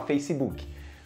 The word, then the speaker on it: Facebook: E você fala Facebook. A pronúncia correta é Facebook.